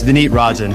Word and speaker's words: Vineet: I need I should have confirmed that I pronounced your name correctly before we started rolling that that is it's V Rin let me re-record that then ordinarily I would